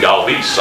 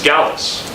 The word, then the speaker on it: Galvis: So I went down, and he said, "You're pronouncing my name wrong." I said, "Okay, well, how do I pronounce it?" He said, "It's Galvis." I said, "Oh, okay, I thought you wanted it to be Galvis."